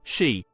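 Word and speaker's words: 四: number four is considered unlucky because it is pronounced she which is also the word for death this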